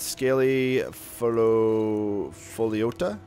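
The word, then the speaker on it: Scaly Pholiota: And Scaly Foliota, that's how you pronounce it, makes you a nice potion of fortified carry weight.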